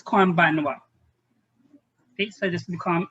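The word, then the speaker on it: こんばんは: In writing, konbanha. But we pronounce this konbanwa.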